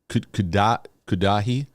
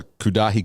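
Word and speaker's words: Cudahy: That's just Kudahi. Kind of sounds like Gaddafi. Kudahi, Wisconsin. Oh, wait, hold on. I'm searching here. There's a Kudahi, California.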